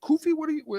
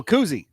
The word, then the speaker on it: koozie: What is it? Koofy? Am I saying it wrong? The little thing that you put on it to keep it cold. Oh, koozie. Koozie.